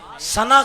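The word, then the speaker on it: سنح: شریف کے مضافات میں سنا کا علاقہ یا سن کا علاقہ ہے، سین نون حاس اس کا تلفظ ہے، اس علاقے کے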